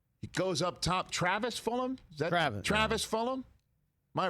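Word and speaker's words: Fulgham: never heard of before Fulham the g is silent correct and I think so yeah he goes up top Travis Fulham is that Travis Fulham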